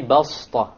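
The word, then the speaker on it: بسطة: You don't say بَسْطَةً. If you did, it's not a mistake, but it is preferred to say وَزَادَكُمْ فِي الْخَلْقِ بَسْطَةً. بَسْطَةً. Okay, so you don't pronounce it as a sad, you pronounce it as a seen, even though it is written as a sad.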